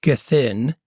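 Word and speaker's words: Gethin: this guy this guy named Chris gin it's spelled like g t h i n gin dude is a mountain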